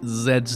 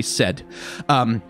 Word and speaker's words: Zed: Zed standing at and I'm gonna mispronounce Zed's name many many times over the course of that cuz I'm gonna say said instead of saying Zed which is the voiced alveolar fricative I'm gonna use the